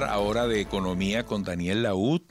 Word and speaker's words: Lahoud: 7:16 minutos, vamos a hablar ahora de economía con Daniel Laud. Su apellido se escribe Laud, con H intercalada entre la A y la O, para los medios de comunicación que nos transcriben a esta hora.